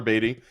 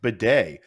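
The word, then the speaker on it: Badie: we talked about Tyler batty and it's actually pronounced Beday which we found out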